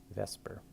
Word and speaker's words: VSEPR: valence shell electron pair it's actually let's Vesper so it's like a kind of almost like Viper or something it's a weird pronunciation so this is valence